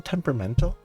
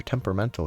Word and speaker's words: temperamental: that how you spell temperamental huh you actually put the a in temperamental even though you don't pronounce it neat the rain can be rather temperamental here in the mountains